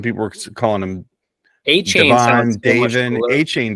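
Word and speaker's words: Achane: were calling himon DAV a chain does like a train achain I think he just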